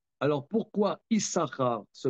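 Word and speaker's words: יששכר: Alors alors là euh Isara le deuxème sim ne se prononce pas.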